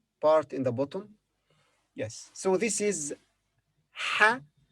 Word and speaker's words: ح: So this is ha. This letter has no English equivalent. Its pronunciation is similar to the English letter H, ha, but more from the throat.